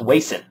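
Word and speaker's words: Wason: and so I went under the internets it's pronounced wayson but I think the wayson selection test has a very important role in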